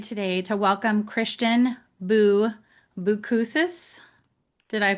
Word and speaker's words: Boucousis: I am so excited today to welcome Christian Boo Boukuses. Did I pronounce that right?